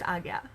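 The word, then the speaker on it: Ajna: that appears in some languages um but it's pronounced agya at least that's the pronunciation i was taught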